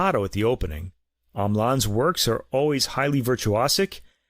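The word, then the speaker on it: Hamelin: In America, he's referred to as Mark Andre Hamlan, and he calls himself that as well, but in Japan, he's given the French pronunciation of his name, Amlan.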